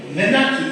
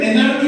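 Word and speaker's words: menarche: মেনাকি, এটাকে আমরা কিন্তু মেনার্কি বলবো না, বানানটা MENARCH, MENARCH, এটা প্রনাউন্সিয়েশন হবে মেনাকি।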